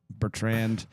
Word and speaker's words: Bertrand: Bertrand.